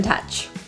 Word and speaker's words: touch: The vowel in touch, the OU, is actually pronounced as a neutral jaw slightly closed, lips neutral.